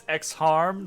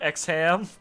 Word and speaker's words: Exham: It's Exharm, not Exham.